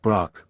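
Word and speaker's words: Brokk: wisdom and eloquence quence Brock pronounced Brock a dwarf bver o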